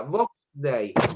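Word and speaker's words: Vox Dei: La Biblia, Box Day, se escribe más o menos así. Box Day. Todo con mayúsculas. Box Day. Como suena y con X.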